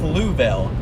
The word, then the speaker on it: Louisville: 3 years old there's no way it's pronounced Louisville I've literally pronounced it Louisville since I was like 3 years old there's no way that's that's right louville all right well I